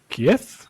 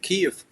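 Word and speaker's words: Kyiv: You grew up in Kief. The pronunciation right? Yeah, it's sure. Uh actually need to say Kev. It's original name K. uh it's original name of my city because when people going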